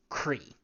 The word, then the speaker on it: Croi: However, being that it is Irish, the pronunciation is not what you would expect it to be. As you might have picked up on, anything that has multiple parts is more often than not abbreviated to just the most significant part or the easiest to say part. At this point, the CROI is pronounced Cree.